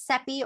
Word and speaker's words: Seppi: My name is Seppi, rhymes with Peppy, as you can see here.